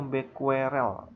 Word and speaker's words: becquerel: Becky ini nanti dibacanya becquerel, ya, satuan dari aktivitas radioaktif.